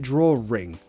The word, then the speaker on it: drawing: word draw in but British people yes we pronounce it draw ring ring draw ring draw ring now if you've seen my connected speech videos hiccups see my connected speech videos well you've got a vowel sound which links to a vowel sound so instead of saying drawing we link it with a wrap draw ring why because phonetically let's